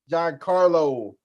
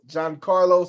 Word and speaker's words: Giancarlo: solo dancing did I say his name right John Carlo got Carlos John's John Carlo Giancarlo Stanton yeah yeah yeah I'm from New York